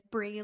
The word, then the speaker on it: Brie: I always say it's Brie like the cheese.